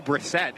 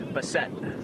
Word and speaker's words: Bessette: a way that you should you should be mispronouncing it it's still Brissette isn't it oh it's this no see that's my point oh no b-e-s-s Bessette okay the Fran wines fires that one